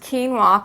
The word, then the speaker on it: quinoa: It's pronounced quinoa, K-E-E-N-W-A.